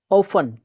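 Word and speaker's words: often: ऑफन, ऑफन अक्सर, ऑफन अक्सर, T silent रखना है, ऑप्टन नहीं बोलना है।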